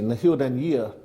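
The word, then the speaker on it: Na h-Eileanan an Iar: Well, Angus McNeill, I mean, firstly, did I get the pronunciation of your constituency, Naheer Nanyear, correct? Nailing, and you're absolutely correct, Alec, and unlike what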